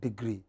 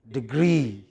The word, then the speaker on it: degree: dual degree it is not degree but degree what is it stress on the second syllable what is it again